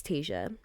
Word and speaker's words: Taezha: it um no but seriously my name is tasa and it's spelled t AE Z ha and I was